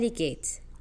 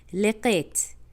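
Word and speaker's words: لقيت: লেকেত, আনা লেকেত, আনা বেলকা। কিন্তু সাধারণত আরবিয়ানরা এখানে কাফকে পুরো গ বানিয়ে ফেলে, তো এটার উচ্চারণটা কি হবে?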